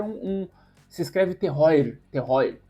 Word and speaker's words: terroir: Terroar é um um se escreve terroir.